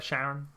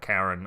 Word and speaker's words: Charon: Sharon. It's Sharon after his wife, even though it's spelt Karen after the boatman of the Styx.